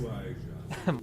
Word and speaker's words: Ouija: I don't know how to pronounce Ouija. that game. What is this, perfectly. Mario? Some You people, some people say stupid Oiji. fool. It's Ouija.